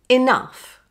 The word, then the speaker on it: enough: Now put it all together with the letter E being pronounced as I. Like this. Enough. Enough.